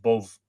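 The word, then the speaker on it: Bodb: swine heard above that's b o d b pronounced both the latter king of the she of monster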